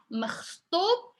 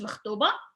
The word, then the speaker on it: مخطوب: واش انت مخطوب. It's like a little bit hard for pronunciation, is the خ sound.